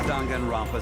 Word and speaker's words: Danganronpa: was dungeon fast is just fiction this whole danganronpa story was just stuffed into your memories that's how it's pronounced i guess i was pronouncing it right